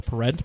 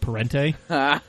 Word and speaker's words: Parente: So, one of the CAMcast Bentley drivers, his name is Alvaro Parent, but Parent is spelled exactly like Parente. And he's just said, no, it's spelled like he's... It's Parent. Yeah, he's like Brazilian or something. He's just like, yeah, no, it's just Parent.